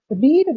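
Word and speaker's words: read: ही has eaten the रीड, रेड, रेड। Spelling ET होती है लेकिन पढ़ते हैं रीड, रेड, रेड।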